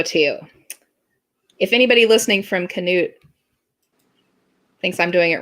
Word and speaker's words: Canute: of this Oklahoma town so it's either knut or Knute c-a-n-u-t-e it's a little tiny town I think it's Canute I think so too if anybody listening from knut thinks I'm doing it